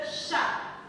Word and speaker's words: chat: Et le chat. Le chat, comme notre chaton de la maison. Et lui, il s'écrit avec un T à la fin.